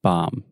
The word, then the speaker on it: bomb: bomb say Mom Mom okay just Mom with a B at the beginning bomb bomb yeah this is the same thing and with with the ing bombing bombing yeah oh God